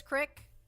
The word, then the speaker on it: creek: I mean, it says creek. I don't know. Cornstarch, tapioca, and gelatin. I can have it. I can have one. Pass it over, Cow King. Some areas pronounce creek as crick.